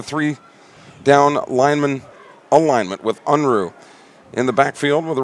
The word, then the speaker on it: Unruh: quarterback out of Caledonia High School Unruh spelled U n ru H but pronounced Unruh first and ten for the Indians